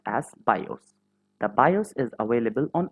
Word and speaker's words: BIOS: It stands for Basic Input Output System and is pronounced as BIOS.